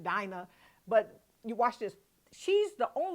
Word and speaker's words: Dinah: mention of Dinah, and I like to call her Dana. I don't know what happened, was in my head so deep from years ago, but I'm pronouncing it Dinah.